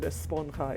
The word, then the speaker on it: esponja: It really bugs me that they keep pronouncing the word esponja incorrectly. It's a Spanish word that means the J is not pronounced like J, it's pronounced H.